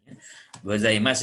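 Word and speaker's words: ございます: Gozaimasu ini di awal kata, jadi tidak dibaca ngo, ya, tapi dibacanya gozaimasu.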